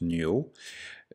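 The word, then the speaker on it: 牛: c'est un autre caractère c'est le bœuf qui se prononce Nuo donc là c'est s'il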